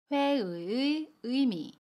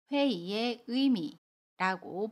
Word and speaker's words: 회의의 의미: 할 수 있어요 그리고 의미에서 의는 의 로 발음합니다 그래서 첫번째로는 먼저 모두 으로 발음을 해서 회 의 의미 라고 발음 하거나 아니면 회의에 의미라고 받음 합니다 저는 개인적으로 두 번째로 바르며 훨씬 편하게 발음할 수 있어요 회의의 의 의미 우리